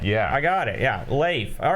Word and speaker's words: Leif: Now, I learned today that we've been saying his name wrong all these years. It's not Leaf? It's Leif. No kidding. Like a potato chip with an F at the end.